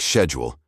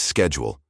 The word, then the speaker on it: schedule: Whether schedule should be pronounced with a soft sh sound, like schedule, favored by the English upper class, or with a hard sk sound, like schedule, which was common in Scotland and other parts of Britain.